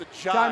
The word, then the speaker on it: Ajai: We've had different pronunciations posted on social media, posted on clips, posted on broadcast. Big Prince comes over and goes, "You guys let them know. It's Ajai. Let them know that name right now when you get a play like that."